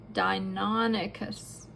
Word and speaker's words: Deinonychus: Deinonychus. Say it with me, Deinonychus. You emphasize or make the middle part the most pronounced sound, Deinonychus.